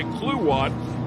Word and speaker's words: Kluwat: And just so you know, while the spelling would indicate maybe a different pronunciation, when you hear us say Kluwat, that is who we're talking about, Dustin Kluwat. That's how it's pronounced.